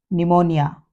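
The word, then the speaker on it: pneumonia: है कबर्ड या रसबेरी और प से पहले यदि ये स्टार्टिंग में पी एन हो देखें तो पी एन से स्पेलिंग चालू हो रही हो तो हम यहां पर प को साइलेंट करेंगे न्यूमेटिक निमोनिया वैसे ही यदि पी के बाद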